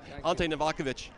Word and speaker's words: Ante Novakovic: a prompter do you Colin Colin Farrell welcome alte novakovich welcome thank you thank you with the pronunciation there man you killed it well you